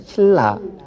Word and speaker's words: 신라: 신나로 쓰지만 발음할 때는 신라, 니은을 리을로 교체한다라고 말씀드렸습니다.